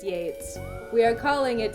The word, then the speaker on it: Yeats: crowley ash yes i know it is pronounced yates we are calling it yeets it's yeats now